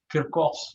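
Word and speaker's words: Kirchhoff: एक और फंडा भी लगता है, वो आपको 12th में, वो आप जब ये किरकॉफ्स लॉ, किरकॉफ, ये सी जो है वो क की तरह बोलते हैं, रशियन, रशियन किरकॉफ, पता नहीं इसकी स्पेलिंग क्या है।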